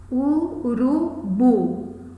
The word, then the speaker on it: urubu: Então, urubu. Onde recai o acento fonético? Qual é o som mais forte? Bu. É uma palavra oxítona, mas não necessariamente ela leva acento.